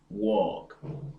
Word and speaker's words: walk: a as in talk walk stalk the L is not pronounced talk walk and talk the next